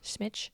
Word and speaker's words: Smitch: He had a good friend named Mark is how I'm going to pronounce it. M S M I C H. Smitch.